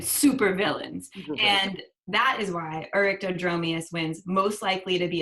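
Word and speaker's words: Oryctodromeus: This one is Orictodromeus. Ooh, good pronunciation.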